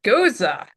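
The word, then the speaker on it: Gose: And I found out I've been pronouncing this style of beer wrong for uh years. It is Goza. Goza.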